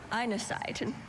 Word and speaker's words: inesite: Einesite.